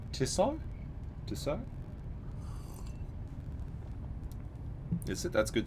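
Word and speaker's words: Tissot: It's pronounced tisso.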